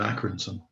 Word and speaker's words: Accrington: Well, I do say Lancashire, but actually I live in Accrington.